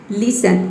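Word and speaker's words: listen: Next है लिसन, लिसन में देखिए टी के बाद क्या आया है, ई एन आया है, लिसन, इसमें टी जो है वह साइलेंट है।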